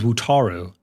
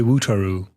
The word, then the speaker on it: Wutaro: His name is Wutaro. And I always say Wutaru because that's just like my accent really.